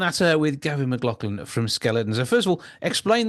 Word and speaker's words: Zkeletonz: way we're saying it you say it like the word skeleton with an s on the end of it but the